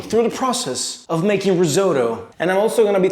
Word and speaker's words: risotto: Today we're gonna be making risotto, which in Italian, by the way, is pronounced risotto. See, in Italy we have this thing where we pronounce double letters. We have double letters and we pronounce them risotto.